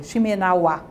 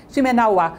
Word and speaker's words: Shimenawa: Aí os deuses colocam atrás dela uma corda, que é Shimenawa. É difícil falar essas palavras em japonês, porque todas as sílabas são tônicas, né? Shimenawa.